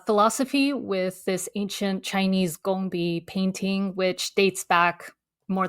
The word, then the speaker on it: gongbi: This is like and and this is something like the gang by is called gambai style. Is that how you say it? It's pronounced gongi.